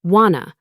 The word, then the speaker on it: wanna: Do you want to almost always becomes do you wanna, pronounced wanna, when people talk every day.